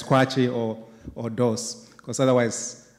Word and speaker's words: Kwakye: It's K W A K Y E but the actual pronunciation is quatchi.